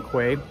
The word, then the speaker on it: Kwai: as the americans say anyway the thai is pronounced at main am quay kauai means buffalo so they don't call it